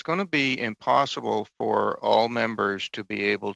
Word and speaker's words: Pfoh: uh to have both Henry Wall and Margaret Fo here uh today.